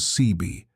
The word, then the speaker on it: Seabee: The construction battalion designation quickly became abbreviated as CB, which sailors phonetically rendered as Seabee.